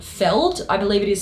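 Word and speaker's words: Feeld: There's actually a very popular dating app called Feld. I believe it is spelled F-E-E-L-D.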